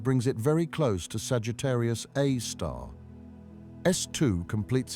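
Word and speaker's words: Sagittarius A*: They named it Sagittarius A star, pronounced Sagittarius A star after the constellation where it resides.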